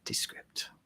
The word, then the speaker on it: Descript: Kieran Shahid with Descript or Descript. I don't know. People in Silicon Valley, I'm sure, have a way to pronounce it. It's Descript.